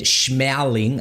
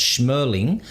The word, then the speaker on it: Shmerling: got your name wrong I said schmowling and you said now it's smirling and what was the